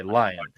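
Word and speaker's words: Lyon: went up against him is it is Lion or Leon? I've heard it pronounced both ways. Okay. Lion. So Alex Lion.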